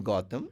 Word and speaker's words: Gautham: shouldn't be disturbed so I don't have to add the H when I'm pronouncing I don't have go yeah goam it's still is Gotham in South people also call me Gotham North also people calls